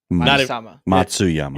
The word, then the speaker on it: Matsuyama: Henry, how do you pronounce it? Ludwig. Yeah. Matsuyama. Matsuyama.